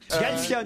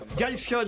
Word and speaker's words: Galfione: Galfion, Galfion. Galfion, Martin Galfion. Ah non. ouais, vous aviez que la première syllabe.